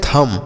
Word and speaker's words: thumb: आगे THUMB, इसे हम पढ़ते हैं थम। क्या पढ़ते हैं? थम पढ़ते हैं। देखिए यहाँ पर जो बी है बच्चों, यह साइलेंट होता है, इसे नहीं पढ़ते हैं।